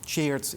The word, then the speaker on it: Tjeerd: I know Tjeerd, even in Dutch, it's really hard. My mother thought I would never leave Holland, but you can pronounce it like the past tense of to cheer.